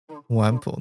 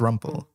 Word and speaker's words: rumple: How do you pronounce rumple? Wumple. That's wrong. It's rumple. Is that what we're talking about? It's rumple chat.